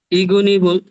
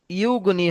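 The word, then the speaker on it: يُغْنِي: ইগুনি বলছে হুজুর। ইউগনি হবে, ইউ হবে প্রথমে, ইয়া পেশ ইউ হয় যেহেতু, ইউগনি।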